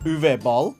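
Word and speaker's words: Uwe Boll: to be watching all six movies directed by U ball that's how you say it and they have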